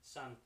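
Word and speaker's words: Sunn O))): is it so o is that how you say it son o I've always sun sun it's just Sun I always looked at that wondering is that o supposed to be said no okay sun and Isis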